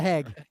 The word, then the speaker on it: Hague: Yeah, Hague.